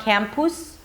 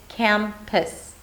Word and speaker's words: campus: The second syllable is a P sound, a schwa, and an S. Pis, pis, pis. So it's not an U sound, it's not campus or campus, it's campus, pis.